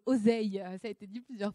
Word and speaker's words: Auzeil: Alors je rectifie, on dit pas Auzeuil, on dit Oseille.